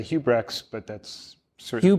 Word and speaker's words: Huibregtse: It's a Dutch name. We say Huibregtse, but that's certainly Huibregtse.